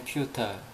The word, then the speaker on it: futile: futile. Futile. futile 영국 발음이고 Futile. feudal은 미국 발음입니다.